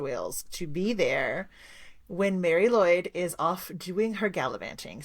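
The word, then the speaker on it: Mari Lwyd: So, if you've seen her name before, it is actually spelled it's two words and it's spelled M A R I. And then the second word is L W Y D, but it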